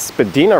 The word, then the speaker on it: Spadina: just to the left although i think the official pronunciation is spadina road and to the right